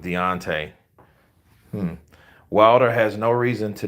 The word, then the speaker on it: Deontay: play on deante's name Beyonce rhymes with Deontay Wilder has no reason